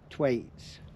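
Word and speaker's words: twite: But these bird watchers are keen on a funny little bird, and they're called, it's spelled like twats, but they're actually called twaits.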